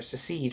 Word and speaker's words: secede: right of a Nation to succeed succeed from the state or secede from the state that's actually how you say it's secede from the